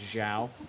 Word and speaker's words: João: it's Zhao is how you Zhao.